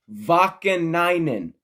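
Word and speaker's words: Vaakanainen: NBC, Vakanainen. Pronounce it right next time.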